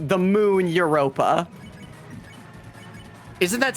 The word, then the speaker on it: Europa: It's the moon Europa. Isn't that spelled with a Y?